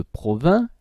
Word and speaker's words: Provins: là ni vous avez celle de provins le s ne se prononçant pas vous avez celle de